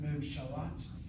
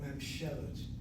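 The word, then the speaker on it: ממשלת: Not Memshalat, but Memshelet.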